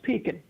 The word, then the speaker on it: pecan: No, it's pecan. See, you know, in North Carolina, it's pecan. My grandmother used to call it it's pecan.